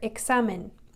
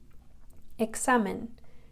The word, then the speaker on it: examen: But a couple other examples are these words here, examen, examen. It's like a K-S, examen, or in Mexico, it's pronounced like an H, Mexico.